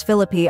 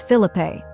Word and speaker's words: Phillippe: explaining by the way it's philippy I heard it on extra she then tags the